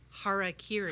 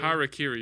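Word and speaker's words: harakiri: think about it's fun thank you for telling me how to pronounce hara kiri karakiri you got to be careful with that one don't want to understand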